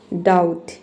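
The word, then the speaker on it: doubt: सबसे पहला वर्ड है आपका डाउट। डाउट में देखिए बी के बाद क्या आया है? टी आया है। इसलिए यहां पे बी साइलेंट है।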